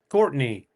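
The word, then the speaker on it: Courtenay: How do you spell it? C O U R T E N A Y. Courtney.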